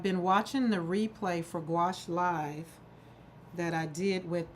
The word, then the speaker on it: gouache: And so gouache, which is spelled G, you saw the spelling g u a ce, but it's pronounced gouache. So, it's like a G with a wash.